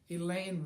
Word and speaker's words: Elaine: let it be heard elaine rhymes with pain i'll probably never find